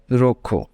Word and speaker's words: rojo: number three that is J is pronounced as k h in Spanish okay read in English